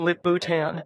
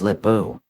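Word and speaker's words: Lip-Bu: Now, Intel under their new CEO, Lip Bhutan. His name is Lip Buu. Lip Buu. Two syllables like a rock with two faces.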